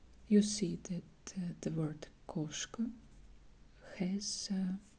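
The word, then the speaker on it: кошка: You see that the word koshka has O, and this letter is stressed, so we pronounce it more strong way than A. It will be koshka, koshka.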